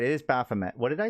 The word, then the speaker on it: Baphomet: You're right, it is Baphomet. What did I say? Did I say Bahamut?